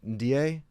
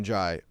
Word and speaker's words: Ndiaye: And then even, I can never say his name right, Ndiaye? And Jai. Njai. Yeah. Yeah, excuse me, Njai.